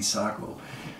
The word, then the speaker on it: Sako: shoot my best but it's supposed to be sock oh that's bad and then